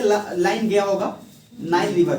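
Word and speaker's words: Nile: देखना blue colour से line गया होगा, नाइल रिवर का, जिसको हिंदी में नील नदी आप लोग बोलते हैं, Yes, sir. उसको इंग्लिश में नाइल बोला जाता है।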